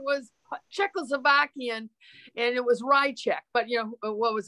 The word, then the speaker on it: Ryczek: It is Ryczek. Well, I shouldn't say the correct. That is pronunciation I use. Yeah. It's Ryczek. That's not the correct Polish one, but we've anglicized it.